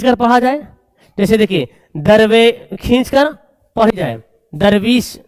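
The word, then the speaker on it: دیر: पढ़ेंगे दिलेर ए पढ़ेंगे दिर नहीं दिलेर देर पढ़ेंगे दीर नहीं पढ़ेंगे देर देखो दोनों सेम लिखा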